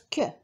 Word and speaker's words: Q: aussi les mots interrogatifs la lettre Q se prononce que on trouve toujours Q